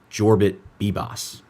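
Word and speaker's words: Yorbit Vivas: Jorbit Bibbos is the correct pronunciation.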